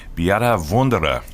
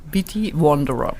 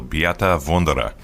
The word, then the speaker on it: Beate Wunderer: And today we have a very special guest, Beate Wunderer. Did I pronounce that correctly, Beate?